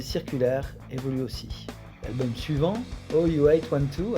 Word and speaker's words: OU812: évolue aussi l'album suivant ou812 à prononcé en anglais voit une nouvelle grade